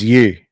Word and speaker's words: Yue: And I was mispronouncing your name, and I apologize. I was saying, that's okay. so it's you. Is that right? Yeah, that's you.